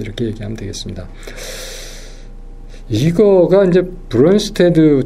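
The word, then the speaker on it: Brønsted: 이거가 이제 브론스테드, 저희는 이제 이렇게 그냥 읽었어요. 독일어식으로. 근데 이게 덴마크 사람인 것 같아요. 네덜란드 아니면. 그래서 어떻게 발음하나 봤더니 브론스토드 이렇게, 브론스토드 이렇게 얘기하는 것 같아요.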